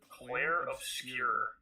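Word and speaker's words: Clair Obscur: Expedition 33, Claire Obscure. Claire Obscure. Yeah, that's how you say it in French.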